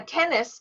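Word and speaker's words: tenace: Now, a tennis. A tennis is pronounced like tennis the game, and it's spelt 10 and ace, but it doesn't mean 10 and ace.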